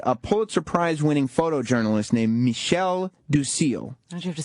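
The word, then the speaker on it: Michel du Cille: Well, they invited a Pulitzer Prize-winning photojournalist named Michel Ducil. Why'd you have to say it like that? That's his name, Michel Ducil.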